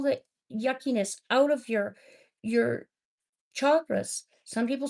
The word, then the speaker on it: chakra: It's a 10-minute meditation that heals and takes all the yuckiness out of your chakras. Some people say chakras. It is pronounced chakra, okay?